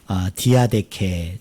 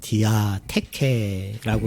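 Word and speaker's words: διαθήκη: 이 유언이라는 단어가 원어 성경을 보면 어떤 단어로 되어 있느냐 하면 디아데케, 좀 더 세게 발음하면 디아테케라고 우리가 읽을 수 있는데요.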